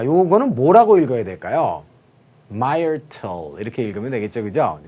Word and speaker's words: Myrtle: 자, 그래서 자, 요거는 뭐라고 읽어야 될까요? Myrtle 이렇게 읽으면 되겠죠, 그죠?